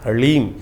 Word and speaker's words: ह्लीम: ह के पैर में र है, फिर उसमें साथ ही में ल लगा हुआ है और ऊपर से बड़ी की मात्रा बिंदी, ओम ह्लीम। इसका उच्चारण इस प्रकार से है।